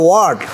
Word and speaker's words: what: যেমন হোয়াট আমরা বলি হট, ইংরেজরা বলে ওয়াট।